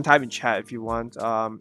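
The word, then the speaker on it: は: It's wa with the ha character, but it's pronounced wa.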